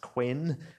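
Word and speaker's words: Qwen: these ones chanan um which normally gets M and pronounced Quinn um in this country um but you know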